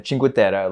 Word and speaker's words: Cinque Terre: You pronounced that great. Thanks. Thank you. We're making progress. Um and then, you know, although that's Italian. Yeah. Yeah. But still, these these sound these sound the same.